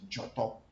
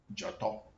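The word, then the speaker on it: Dzoto: can write it J-O-R-T-O-R, who create a proper pronunciation, Joto, or D-Z-O-R, T-O-R. Joto means that which has manifested itself into being.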